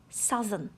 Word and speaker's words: southern: And here I'd like to draw your attention to the right pronouncing of the letters O and U. Here in the adjective they are pronounced as A, southern.